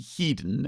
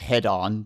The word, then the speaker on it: Hedon: So, if if you look up the pronunciation guide, it'll be Heden as in hedenistic. Uh, yep. Everybody on the internet calls it head-on because of that old commercial for head-on applied directly to the forehead.